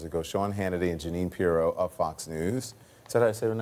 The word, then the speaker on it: Pirro: With Trump just a few hours ago, Sean Hannity and Jeanine Pirro of Fox News.